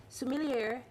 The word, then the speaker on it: sommelier: So joining us this morning is certified sommelier and lifestyle expert Sarah Tracey. Welcome to New York Living. Did I get that right? Did I pronounce that right? Sommelier, like yay for wine.